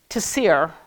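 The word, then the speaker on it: צירי: The next one is tasir.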